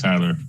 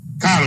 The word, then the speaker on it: Kyler: I think the Washington football team might have a handful against Tyler Murray. I've seen it firsthand. Kyler Murray.